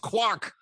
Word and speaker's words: Quack: It's pronounced Quack.